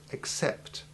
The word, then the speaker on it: accept: hard C sound so that it comes through between the front of your tongue and the ridge of your palate, behind your front teeth, so as to make the truncated hissing sound of the soft C.